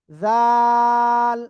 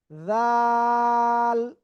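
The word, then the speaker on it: ذال: লাগিয়ে আপনার এক দুই তিন আলিফটা নিয়ে অক্ষরটা উচ্চারণ করতে হবে। জাল এইযে জিব্বারা আগা জাল জাল সবাই একসাথে আনমিউটে জোরে জোরে বলেন সবাই ওকে আলহামদুলিল্লাহ আলহামদুলিল্লাহ আমরা এটা ক্লিয়ার হয়ে গিয়েছি।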